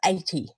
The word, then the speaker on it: Aite: know good old into me I found a pronunciation of 80 which is why I say it that way